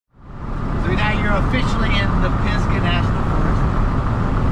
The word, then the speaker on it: Pisgah: we're officially in the Pisgah National Forest. It's pronounced like it's spelled P-I-Z-G-A, Pisgah. Pisgah. But I always pronounce it like it's P-I-S-C-A, Pisgah, or P-I-C-K-A.